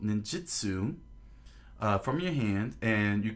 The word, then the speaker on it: Ninjitsu: ability is based around what is called Ninjitsu, Wizards of the Coast, not Ninjutsu. It's not spelled with a U; it's spelled with an I.